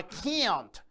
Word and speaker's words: can't: I can't swim, or I can't swim. I can't eat, I can't eat. So notice it's longer, it's pronounced differently, while the positive can is pronounced short as can, can.